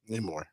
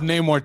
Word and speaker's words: Namor: Namor.